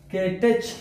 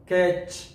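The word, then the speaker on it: catch: د مثال په ډول سره دلته د لغت منګه کېټچ نه تلفظو کېچ کېچ.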